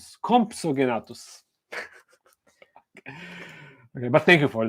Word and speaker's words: Compsognathus: So no, unfortunately, we cannot add the how do you pronounce that? Compsognathus. Compsognathus.